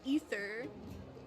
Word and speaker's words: Aether: spelled but it's pronounced ether like the the characters pronounce it either uh the just every everyone pronounces it ether like officially and it bothers me